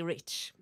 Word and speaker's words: Reich: playing trombone and Reich rake yeah how do you pronounce it right because I like it because it means rich in German and I like that word and um like Buddy Rich and we have yeah exactly rich um and so we